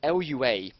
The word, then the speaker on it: Lua: So the computers all run a programming language called I think it's pronounced Lua, something like that. It's Lua anyway, is how you spell it.